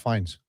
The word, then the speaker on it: Fiennes: Fiennes? Is that how you pronounce it?